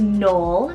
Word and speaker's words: Noel: right up my alley another short one here is Knoll spell n-o-e-l or you can spell it n-o-h-l Knoll this is another one